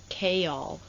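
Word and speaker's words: Chaol: Oh, it's Kol, not C.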